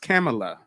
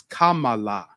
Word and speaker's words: Kamala: like we thought and her name isn't pronounced camela we butcher it we call it her camela no it's Kamala Kamala Kamala I'm a